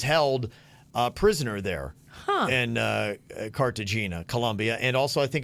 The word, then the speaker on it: Colombia: Colombia? You got to say it like that. Colombia? Colombia, yes.